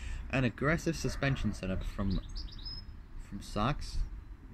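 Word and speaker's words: Sachs: The Z-Tune is also improved with an aggressive suspension setup from socks, not to be confused with, like, a clothing. It's spelled S-A-C-H-S. S-A-C-H-S. And a specially designed Brembo brake system.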